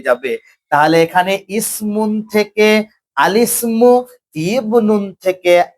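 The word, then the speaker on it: الاسم: কি উচ্চারণ হবে? আলিসমু।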